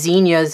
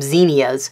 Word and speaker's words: zinnia: These three, people, I learned to pronounce them as zinnias, and I've seen gardeners pronounce them zinnias.